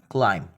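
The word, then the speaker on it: climb: romantic में आएगा तो इसमें हम बी को साइलेंट कर देंगे बी नहीं बोलेंगे जब भी एमबी कथाएं तो लिए एग्जांपल्स की तरह बढ़ते हैं जैसे हमारे पास है वैन क्लाइम क्लेम यानी की चढ़ना इसमें हम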